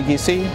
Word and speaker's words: Giese: Uh, you can just search up my name on Google, Tony Geese, and uh, it's spelled G I E S E, and, uh, pretty much pop up on there.